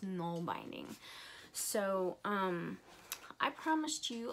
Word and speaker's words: Nalbinding: called null binding I think I called it now binding before but it's actually pronounced non binding so um I promised you a little snippet